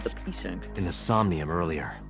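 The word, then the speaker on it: psync: the sink said the pync in the somnium earlier the p is silent I saw someone else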